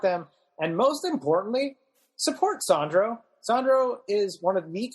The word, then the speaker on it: Sandro: My social media is at Sandro, not Sandra, or at Sandro, not Sandra, depending on how you pronounce things.